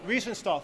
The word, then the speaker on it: Riefenstahl: And her name was Rennie, I can't pronounce the last name. Riefenstahl. Riefenstahl, thank you.